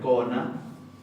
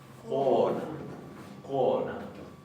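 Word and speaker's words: kona: Entonces, por ejemplo, en la palabra mujer, no se pronuncia cona, sino que se dice cona.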